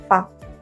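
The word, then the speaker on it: ファ: Você vai escrever o fu normal, a pequeno e ele vai se pronunciar fa. Não vai ser fá, tá gente? É fa.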